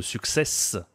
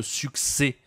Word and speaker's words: succès: Tu vois ici, il a dit beaucoup de success, il prononce le s mais on doit dire beaucoup de succès. Beaucoup de succès. Tu ne prononces pas le S à la fin, c'est une consonne muette.